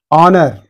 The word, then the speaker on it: honor: Honor, in this also H is silent.